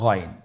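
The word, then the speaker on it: غين: এবং আমরা জানি যে গাইন হরফটি মোটা হারাফ অবশ্যই একটু মোটা করে বলতে হবে আপনারা আমার সাথে চেষ্টা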